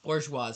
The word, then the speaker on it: bourgeois: bourgeois but um yes bourgeois not bougie bourgeois that's how you pronounce it um but also yeah